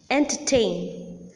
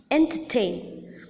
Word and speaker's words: entertain: little less prominent than the last syllable, and that is the first syllable of all the words that I have mentioned just now. Disappoint, entertain, understand, decompose.